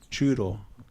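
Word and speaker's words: Trudeau: and coincidentally there was a name sounds like judel who was the Prime Minister rhymes with chudo and uh we had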